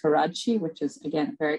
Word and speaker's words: Karadsheh: benefit of the audience it's pronounced karachi which is again a